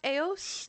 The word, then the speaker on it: Eos: We also have, I think it's pronounced Eos. In Latin, it would have been Aurora, which I love that name so much.